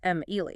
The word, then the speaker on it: Emily: But Emily has 3 syllables, Em-Ely.